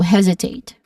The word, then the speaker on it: hesitate: So, the stress is on the first syllable, he, and the second syllable has a short E sound, right? With a buzzing sound. Also, hesitate.